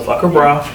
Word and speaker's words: Phuckhbra: So Fuck a Bra is my brand, and it's spelled PHUCKHBRA. So Fuck a Bra.